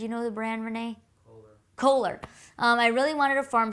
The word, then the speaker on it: Kohler: farm sinks, and I don't know how to pronounce the brand. Do you know the brand, Renee? Kohler.